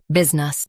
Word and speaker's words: business: Business, both US and UK have the same pronunciation of this word. Stress biz. Keep nus soft and quick.